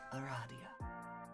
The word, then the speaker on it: Aradia: that feels odd in my mouth it is pronounced Aradia makes sense although you've just met you can